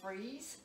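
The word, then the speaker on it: frieze: That, it looks like frise, but it's pronounced freeze.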